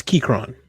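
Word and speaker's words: Keychron: up the Austin I don't know how to pronounce the name of this it's it's Kyron KRON K3 the Kyron Kyron yep Sleek compact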